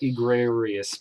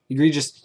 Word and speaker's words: egregious: I wanna I I wanted to call it igrarius but that's not how you say it wow egregious use of product placement